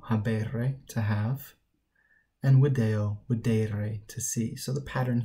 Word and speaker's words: videre: All right, notice the difference in pronunciation between second and third. We've got video, videre.